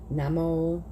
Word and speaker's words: namo: these words sound like ohm is om namo is na mo and the one that